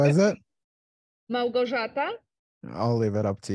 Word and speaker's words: Małgorzata: Thomas, who is Małgorzata, you must be Polish then. That's how you say it, Eric. How is it? Małgorzata.